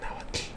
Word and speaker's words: Nahuatl: And did you know that Nahuatl, the TL sound, is pronounced? It's like a click. Let me do it like far away from the mic so I don't like. It is supposed to be Nahuatl, Nahuatl, Nahuatl, Nahuatl, Nahuatl, Nahuatl.